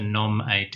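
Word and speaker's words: gnomAD: NOMAD, okay. Sorry. Pronunciation. Yeah, we like to pronounce it that way because that's actually a word, right? A NOMAD. It's not spelled that way.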